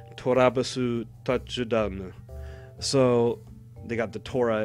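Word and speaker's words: トラヴィス・タッチダウン: And the way his name is pronounced in Japanese is Torabasu Tachudanu.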